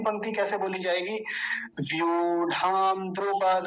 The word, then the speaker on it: द्रुपद: और एक बात थी, द्रुपद नहीं बोलना, द्रुपद।